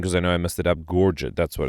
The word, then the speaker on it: Gorget: Gorget, that's what it's pronounced.